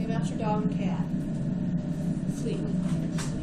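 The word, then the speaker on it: phlei: with micob bacterium master your dog or cat Fleet it's spelled p hlei but it's pronounced Fleet remember when you took this one picture in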